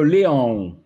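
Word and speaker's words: León: Quid de Léon? Léon. C'est comme ça qu'on prononce ça, les gars.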